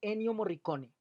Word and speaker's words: Ennio Morricone: En 8 días vamos a estar hablando de Ennio Morricone, se pronuncia así, es italiano, que es uno de